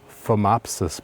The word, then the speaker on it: Phomopsis: So this has what is called Phomopsis blight, and I will spell it for you because it's spelled with a PH. PH like fat, PHAT, no.